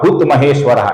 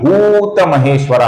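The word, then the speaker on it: भूतमहेश्वर: नाम है भूत महेश्वरा यहां पर भू दीर्घ है भू दीर्घ है इसका हमें लंबाई से उच्चारण करना है कुछ लोग इसका भूत महेश्वरा ऐसा गलत गलत उच्चारण करते हैं। यह भूत महेश्वरा है।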